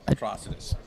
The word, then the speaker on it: Atrocitus: So how do you pronounce it? Atrocitus.